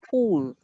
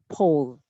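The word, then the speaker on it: poll: The word P-O-L-L here, I heard pool. Maybe it's also a slip of tongue. It should be pronounced as pole.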